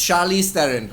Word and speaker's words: Charlize Theron: without mispronouncing her name i googled how to pronounce charlize theron and lo and behold it was charlie sarin teaching you how to explain like how to pronounce her name and it was quite cool it's charlize theron i believe the way we've